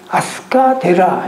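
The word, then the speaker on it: 飛鳥寺: 그 일본 말로는 아스카데라 이렇게 말해요. 그러니까 비조라고 써놓고 아스카라고 읽어요.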